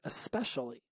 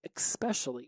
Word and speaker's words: especially: Back then, I would pronounce it especially with an X, so it'd be EX instead of ES. So instead of especially, it was especially.